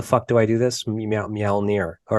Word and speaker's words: Mjölnir: So the new album is Mjölnir. Is that how you pronounce it? Mjölnir. Yes. Mjölnir.